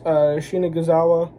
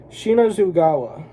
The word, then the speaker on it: Shinazugawa: or whatever, Tanjiro fights Shinagizawa. I think that's how you say his name. Shinuzugawa. Sorry, I'm butchering the name. It's Shinazugawa. Yeah, he's the Wind Hashira, who's on volume 17, the volume that I showed before.